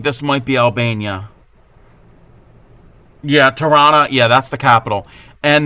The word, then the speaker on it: Tirana: Where is in relationship to the international, the Tirana International, Tirana, I think it's how you pronounce it. It's not Toronto.